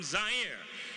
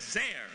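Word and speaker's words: Zaire: how had coel coming to you live from zier some would pronounce it zir they're wrong it got big laughs and then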